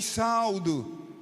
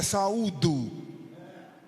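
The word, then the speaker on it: saúdo: irmãs eu vou e saldo como é que fica o auditório eu V saudo com a paz do Senhor se a pronúncia correta é saudo fica ruim uma pessoa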